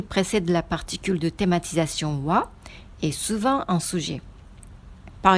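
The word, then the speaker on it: は: qu'il faut faire attention la particule loi ça s'écrit en qui la ghana a mais on le prononce comme oit mais attention le thème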